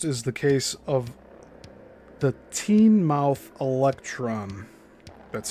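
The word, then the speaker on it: Teignmouth Electron: Of most interest is the case of the teen mouth electron. That's spelled T E I G N M O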